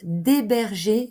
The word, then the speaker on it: héberger: n'est pas une voyelle j'ai hâte d'héberger mes amis h est un h muet un petit exercice de